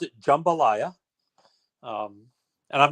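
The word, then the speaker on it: jambalaya: helper than it is actual um so we pronounce it jumbalaya um and I'm not saying that to criticize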